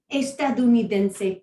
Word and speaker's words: estadounidense: word for that is estadounidense. So it's a big word, but if you divide it up into 3 syllables, a little bit more than that. Estadounidense, okay? Estadounidense.